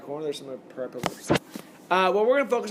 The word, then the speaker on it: hyperbola: The graph of this function gets me what's called a hyperbola. Or some people pronounce it hyperbole. Depends. Hyperbola.